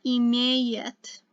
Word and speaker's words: имеет: So remember that you see the two ye's, it's pronounced yeah. So она имеет.